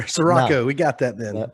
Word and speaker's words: Ciorrocco: Ciorrocco. So it's not as hard as it's spelled here. Ciorrocco, no.